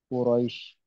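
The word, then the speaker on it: قريش: kita surah Al Quraisy ini huruf syin ya Quraisy syinnya tebal karena ada titiknya bacanya ituili Quraisy Quraisy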